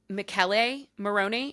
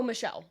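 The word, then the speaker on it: Michele: Pronounce pronunciation. Oh, see now. Now, okay. Uh, Mikuel is that how you say his name? Oh, Michelle.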